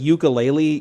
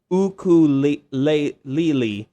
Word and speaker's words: ukulele: So I thought it was like ukulele, kind of like the Hawaiian guitar, but the actual proper pronunciation is ukulele. So ukulele. Yeah. So you got to say with that Hawaiian kind of ukulele.